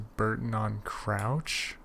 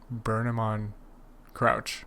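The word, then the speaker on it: Burnham-on-Crouch: crossing over here maybe we fly them to Burton on Crouch is that how you pronounce it burn him on crouch crouch okay but then we need to connect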